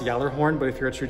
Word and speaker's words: Gjallarhorn: have to slide the gala horn forward it's pronounced yellow horn but if you're a